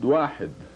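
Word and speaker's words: واحد: It is pronounced wahid, wahid.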